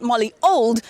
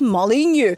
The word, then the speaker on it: Molyneux: Molyneux, he says, when I asked him how you pronounce his name, it says it's not Molly Old, it's Molyneux. All right, perhaps we can enjoy some new kind of traffic in Johannesburg and in the cities, Robin.